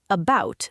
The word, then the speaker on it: about: About, the A is a schwa.